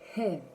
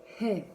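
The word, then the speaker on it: һеҙ: Мы произносится так. Бед. Бед. Вы. Хев. Хев.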